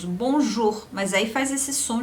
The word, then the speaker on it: bonjour: Como por exemplo nas palavras bonjour. Veja que bonjour você tem o O e o U juntos, bonjour, mas aí faz esse som de bonjour.